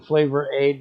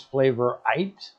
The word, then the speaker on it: Flavor Aid: And yes, it should have been Flavor Aid, but Crazy either buys Flavorite or mispronounced it during the stream, which is why it's Flavorite instead of Flavor Aid.